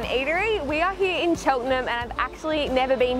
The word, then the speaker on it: Cheltenham: how you say it cheltenham cheltenham like my surname but not